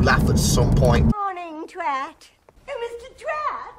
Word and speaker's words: Twat: Twat. It's pronounced thwait.